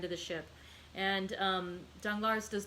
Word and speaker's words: Danglars: going to pronounce it d-a-n-g-l-a-r-s danglar i don't think we pronounce the s um and so danglar